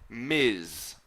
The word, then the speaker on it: Ms: so mrs is pronounced missus and that's for a married woman and then finally we've MS which we pronounce Miz okay it's pronounced like